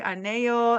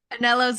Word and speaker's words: Anello: your last name wrong I was about to say ano and then I said anelo so I apologize for no anello's it it's good it's Italian not Spanish okay cool yep yeah